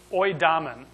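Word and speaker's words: οἴδαμεν: The word is pronounced oidamen.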